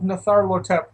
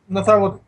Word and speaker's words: Nyarlathotep: But going to a temple of Natharlathotep, Nyarlathotep. yes, that. My Cthulhu lore's pronunciation is not strong.